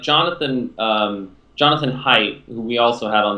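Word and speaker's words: Haidt: like jonathan um jonathan height who we also had on the podcast that's i think that's i'm pretty sure that's how you pronounce his name it's h-i-h-a-i-d-t um but he studies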